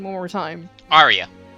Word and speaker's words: Aria: in your mind like in in sorry name pronunciation one more time Arya Arya okay that's how I'm going to have to